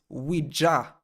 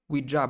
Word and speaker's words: Ouija: It's Ouija board, not Ouija board, Ouija board.